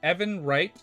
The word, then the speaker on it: Evan Wright: Oh, by the way, his name is Evan Wright. Evan Wright. Oh, is that how you pronounce it? Oh, okay. I was thinking it was like Emil. Like from near. Okay, so it's not.